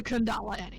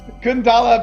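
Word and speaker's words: けん玉: say she made the kendama kendama best accessory okay it's pronounced the the Japanese way yeah okay so Sokka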